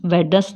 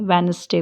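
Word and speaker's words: Wednesday: rule नहीं लगता जैसे वेडर्स वेडस नहीं बोलते हैं वेनसडे बोलते हैं हैंडसम नहीं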